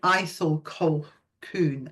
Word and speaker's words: Ithell Colquhoun: It looks like Ithell, but it's Ithell. I think her name originally might have been Ethel, and she changed it to something a bit more priestessy. So you pronounce it Ithell Colquhoun.